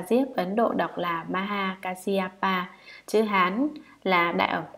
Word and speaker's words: Maha Kasyapa: Ngài Maha Ca Diếp, Ấn Độ đọc là Maha Kasyapa, chữ Hán là Đại Ẩm Quang, thần ngài